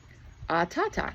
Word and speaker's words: Atata: And waving to her, "Atata," she said, "I want to see how to pronounce that one." A t a t aata. Ah, I said that one right.